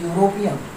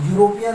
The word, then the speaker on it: European: But here we see the pronunciation of this European. If you write in Hindi, the European is written like that, European. It is started with Y. and here is, this is a sound of consonant.